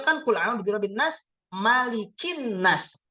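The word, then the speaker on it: مَلِكِ: Tiba-tiba ini tulisannya menjadi malikun nas, qul a'udzu birabbin nas malikun. Nah, misalkan ya, harokatnya menjadi dhammah. Lalu kita pikir, loh, ini kok kenapa menjadi maliku? Harusnya kan maliki ya.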